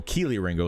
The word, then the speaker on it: Kelee Ringo: about about I mean not Kelly Ringo Keely Ringo sorry um I always say his name wrong as well oh king